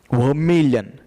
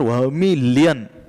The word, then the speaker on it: vermilion: Vermilion. See the pronunciation properly. It is not vermilion. It is vermilion.